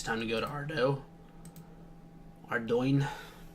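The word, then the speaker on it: Ardougne: Ardoin. I pronounce it Ardo because I mean that's definitely the French way to pronounce it.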